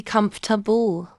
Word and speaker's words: comfortable: you coming with us mistake nine mispronouncing comfortable it should be comfortable mistake 10 mixing up